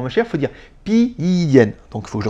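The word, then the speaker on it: 便宜: Et en fait, plus prononcé, en fait, ça fait pi yen.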